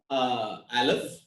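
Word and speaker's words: אלף: The first letter has been pronounced as Aleph.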